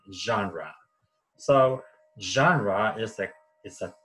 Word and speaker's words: genre: genre what is genre genre is a French word and we pronounce Chandra so genre mystic is